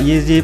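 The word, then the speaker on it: Jiří: kan kenapa gua bacanya yeezy fokus kk6 cara baca huruf di ceko beda banget dengan di Indonesia jadi Jerry Dibaca yeezy prohaska tapi berhubung logat Ceko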